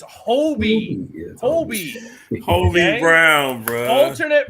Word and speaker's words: Hobie: the the number of people that I hear pronounce his name hobby Brown drives me like he's Bobby Brown it drives me got it's h-o-b-i it's Hobie Hobie homie Brown bro